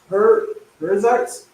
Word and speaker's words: Perizzites: Even of the Canaanites, the Hittites, the Perizzites. That's how you say it. Just sound it out.